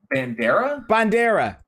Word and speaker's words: Bandera: Bandera.